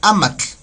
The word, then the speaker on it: amatl: Por ejemplo, papel, amatl, así suena amatl, TLE, amatl, ¿vale?